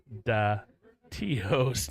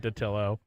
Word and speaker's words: Dattilo: who's getting mad because I always pronounce Dave Dattio's name the way I want to pronounce it. But it's Dave Dattilo, I guess, out of respect.